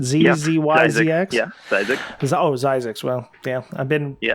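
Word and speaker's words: Zzyzx: I actually drove this road, when I drove it, there was like Zizix Road, I think is how they pronounce it. Z-Z-Y-Z-X. Yeah, Zizix. Zizix.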